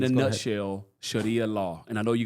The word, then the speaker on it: Sharia: Sharia is fine. You can say Sharia.